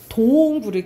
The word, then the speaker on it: 굴: 동굴을 길게 발음해요.